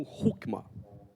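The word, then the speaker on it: Hoekema: Anthony hookman escreve o mas ele é um holandês então a gente pronuncia isso aqui como hookman dr hookman eh era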